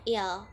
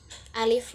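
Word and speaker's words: ال: dalamnya, yaitu pembelajarannya untuk al dalam Amiyah Mesir itu dibacanya il. Kan biasanya kalau dalam bahasa Arab Fushah itu alif lam dibacanya al seperti alhamdulillah. Namun pada Arab Amiyah Mesir itu dibacanya il menjadi ilhamdulillah.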